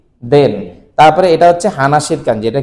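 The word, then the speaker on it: 話: হানাসি মাছ হইলো। এই হানাসি মাছের আবার আরেকটা উচ্চারণ হচ্ছে, সেটা হচ্ছে ওয়া।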